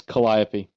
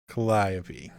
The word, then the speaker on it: Calliope: I'm gonna just say no that's no that's Calliope Calliope okay all right Calliope yeah kind of like the musical instrument all right we're all